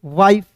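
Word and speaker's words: wife: जैसे दोस्त यहां पे देखिए डब्ल्यू आई एफ ई वाइफ।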